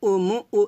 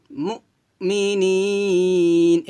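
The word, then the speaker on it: مؤمنين: এখানে আমরা যে ভুলটা করি সেটা হচ্ছে ওয়া মা হুম বিমুমিনিন, মুউ এভাবে উচ্চারণ করি, মুউ বলা যাবে না, বলতে হবে ওয়া মা হুম বিমুমিনিন, মুমিনিন এভাবে।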